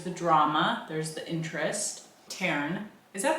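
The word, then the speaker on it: Tairn: Taryn. Is that how you pronounce that? Yeah. Okay. Taryn.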